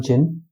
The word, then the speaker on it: djin: Clever जिन, अभी DJIN लिखा हुआ है, इसमें डी साइलेंट है. इट is called जिन.